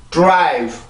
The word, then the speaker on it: drive: 그러면 D 발음이 영향을 받죠. 그래서 D 발음 할 때도 drive 요게 아니라 drive 요렇게 발음이 되고요.